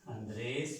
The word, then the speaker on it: Andrés: la diferencia las pronunciamos pero al final le hacemos una serie él al final y lo hacemos en la última sílaba ok sólo se pronuncia